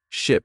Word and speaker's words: ship: Ship has a short I sound like in sit and sheep has a long e sound like in sea. Try saying each word three times. Ship.